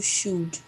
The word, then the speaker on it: should: You should. Should. Remember, should. Should. Should. You should take a boat tour. You should. Okay, it's a little short because we do not pronounce the letter L.